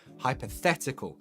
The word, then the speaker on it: hypothetical: um check the spelling hyp hypothetical hypothetical stress the the hypothetical and then hypothesis the stress oh you've just said yeah the stress is on a different syllable here hypothetical hypothesis stress